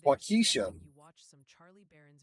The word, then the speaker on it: Waukesha: Also, a very vocal committee from Wisconsin would like to inform you that Waukesha is pronounced Waukesha. And it's Waukesha.